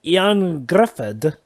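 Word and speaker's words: Ioan Gruffudd: fantastic is actually Welsh to find his American accent that's fine Ian Gruffudd ah yeah that's his name young Griffith and yet somehow easiest to pronounce and Lonnie Paquin you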